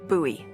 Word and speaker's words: Bowie: out this huge Rusty Bowie knife it's actually pronounced buoy what no it's like the last name like